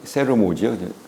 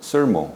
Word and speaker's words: Sermo: 한국 발음은 세르모죠. 원래 영어 발음 sermo.